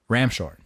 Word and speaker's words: Ramshorn: to me, I read Ramshorn. R-A-M. Ramshorn? Ramshorn. Like a shorn sheep. Yes. But it's a ram. Exactly. Ramshorn. Which, if you're just reading like a normal person ought to, it's just ram's horn.